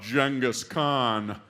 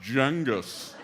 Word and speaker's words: Genghis Khan: First thing I hear, this guy goes, "Another thing about Genghis Khan." I'm like, oh, jeez. Now, you already don't like this guy. I go, "Oh, Genghis Khan? It was actually pronounced Genghis."